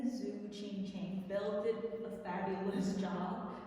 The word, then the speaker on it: Tzu Ching Chen: came here okay hi guys my name is zuo ching chang Bill did a fabulous job of pronouncing my official name properly because the spelling